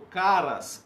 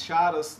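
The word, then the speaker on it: χαρά: Alegria, essa palavra alegria é uma palavra grega que é chara, ou caras, caris, charas, dependendo da... Hoje é uma palavra grega, as pessoas pronunciam de várias formas, mas eu prefiro falar em chara, que é a sensação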